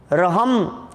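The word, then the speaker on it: अर्हम्: अरहम रहम बीजाक्षर का ध्यान अ साइलेंट है इसमें स्टार्टिंग रहम क्योंकि र है ना ऊपर आधा र बोलेंगे कैसे वो तो पहले बोला जाता है जिस अक्षर के ऊपर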